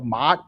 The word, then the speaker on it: Ma'at: into the Egyptian flavor, Ma'at. It's m a a t, and I can't say it normally. I can't go Ma'at because when you say it, it's like It's almost like when you're yelling mom.